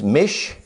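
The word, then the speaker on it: מִשְׁנֶה: This is the word second, and this word right here is Mishne. This is Shine second. This is Mishne second. Don't sound alike. Ain't spelled alike. Both of them are pronounced second. Now it says right here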